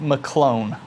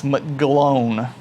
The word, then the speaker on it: McGlone: It's not McClone, it's McGlone.